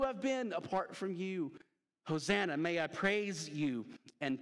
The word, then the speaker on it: Hosanna: it's on the screen it rhymes with Rosanna Hosanna that's right Hosanna means